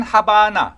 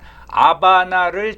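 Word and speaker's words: La Habana: 체 게바라가 1959년 1월에 쿠바의 수도인 하바나 또는 그 사람들 말로는 H가 묵음이 되니까 아바나를 점령함으로써 바티스타 정권을 붕괴시키고 사회주의 혁명을 성공시키죠.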